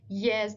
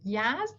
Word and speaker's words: Yazd: Examples like pronunciation of the name of the city is Bushehr instead of Bushehr, Yazd instead of Yazd, which is the way that they would hear the word in people's accents from the cities and regions.